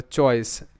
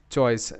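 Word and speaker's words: choice: তো দেখো এখানে কিন্তু এই সি স হিসেবে উচ্চারিত, কারণ সি এর পর ই আছে, আর শব্দের শেষে ই সাইলেন্ট থাকে যদি সেই শব্দটিতে অন্য ভাওয়েল লেটার থাকে।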